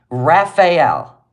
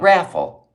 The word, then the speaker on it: Raphael: oh you can spell road but you can't pronounce Raphael Raphael St Raphael she said s St raffel she doesn't even I mean it was even